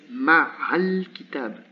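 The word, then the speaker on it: مع الكتاب: Because here there is a vowel, so this one will disappear and this one will turn to a waṣla. So what I say, what pronunciation is ma'al kitab, ma'al kitab, right away, ma'al kitab.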